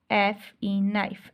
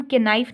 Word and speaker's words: knife: Next आप नाइफ लिख सकते हैं, KNIFE, नाइफ। अब नाइफ में देखें हम के नाइफ नहीं बोलते, नाइफ बोलते हैं, तो यहाँ पे के जो है वो साइलेंट हो गया, ठीक है।